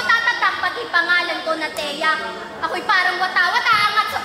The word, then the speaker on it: Tea: lang aking pupunahin yung pagbigkas mo ng pangalan ko say talaga ba ganon ka nakating bro teya tian Hindi tuloy tuloy masyado ka